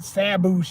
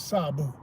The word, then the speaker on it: Sabu: just that dude and I'm going to say his name right. Not that Saboo that, you know, even he said cuz he know ignorant ass Americans couldn't pronounce it, so he just let him do whatever. And I'm like, man, say the name right. This Sabu.